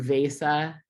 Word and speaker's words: Vesa: Thank you, Vesa, for being there in person with everyone. And I am so excited to see you all in person in Abu Dhabi sometime soon. Thank you, everyone. Vesa, I really appreciate you spending time with us.